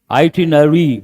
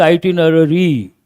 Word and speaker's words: itinerary: Uh please write how do you pronounce that itinary? But what is the spelling? R A R Y. We don't say itinerary. That sounds ridiculous and awkward.